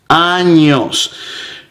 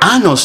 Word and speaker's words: años: So it is very important, it is imperative that you get the ñ pronunciation correct.